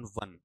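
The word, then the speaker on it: Vaughan: अगर वॉन बनाते हैं तो फिर आपको वहां ऐसा वर्ड लेकर आना पड़ेगा। वी ए यू जी एच ए एन जो कि प्रॉपर नाउन है। जैसे आपने कभी इंग्लैंड का एक कप्तान हुआ करता था क्रिकेट के अंदर। आपको याद हो तो माइकल वॉर्न। ठीक है? उस हिसाब से आपको लेना पड़ेगा। ये प्रॉपर नाउन की वजह से।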